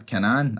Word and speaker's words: Kanan: Here he does tell um Kanan Kanan or whatever you pronounce his name, man. Kanan.